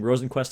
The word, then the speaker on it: Rosenqvist: not drive you know so I'm saying Rosen quest aligned I got to get used to it because it is a bit of an interesting pronunciation of a name but the second in